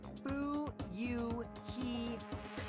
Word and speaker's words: Fuyuhiko: last name is my first name is pronounced boo you he oh he's turned around he's the most honest